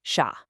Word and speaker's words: chat: And for chat, the T at the end, totally silent, unless it's followed by a vowel in specific liaisons, so here it's just sha.